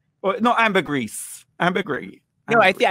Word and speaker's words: ambergris: do you say it ambergris ambergris or no amber grease ambiguity no i think i think the s is silent if you're if you're